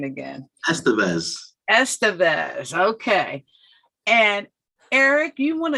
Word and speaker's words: Estevez: to bring to you Eric give me that pronunciation again that's the best Estevez okay and Eric you want to tell people